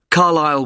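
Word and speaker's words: Carlisle: i s l e you don't pronounce the S carile way and that's in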